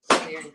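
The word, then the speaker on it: Laoghaire: Leary, perfect. Yeah, I was trying to pronounce it as I saw it.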